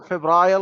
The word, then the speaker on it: February: headlines in February 2020 when the Oh, it's Department of it's February. Feb- You don't pronounce the R. So February. your accent, it's a British or the American?